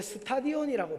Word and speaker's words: 스타디온: 1600 스타디온은 발음이 여러분 원래 스타디온이라고 발음하셔야 됩니다.